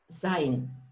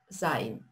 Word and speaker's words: sein: Глагол есть на немецком языке звучит так: sein. Перевод на русский — быть. То есть я есть, я существую. И читается как I, sein.